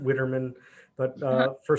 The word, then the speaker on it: Widerman: last name it's weidermann i say wider minutes i pronounce it witterman but uh for spelling